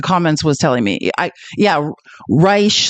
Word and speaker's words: Reich: this it's it's not Reich we already determined that like yes I understand that this word would normally be pronounced like that that's not how he pronounces it or at least that's